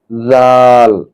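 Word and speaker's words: ذال: এরপরের অক্ষর হলো জাল। এটি মূলত জিহ্বার আগা সামনের দাঁতের আগার সঙ্গে লাগাতে হবে, তাহলে জাল আপনি সঠিকভাবে উচ্চারণ করতে পারবেন। আমরা উচ্চারণ করি জাল জাল।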